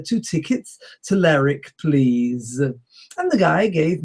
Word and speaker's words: Lerwick: and the Shetlands have the capital city spelt L-E-R-W-I-C-K.